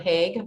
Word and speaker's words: Haag: your name right here it's rhonda haig by the way hey sure i'm the